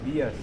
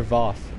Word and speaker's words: Voss: What's up, Dark Vias? What's up, bro? Or Voss. I said it right last time.